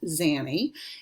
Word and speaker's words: Xannie: I actually go by a nickname, which is Zanny. It's spelled Xannie, but that's hard, and I have not figured out how to change my display name.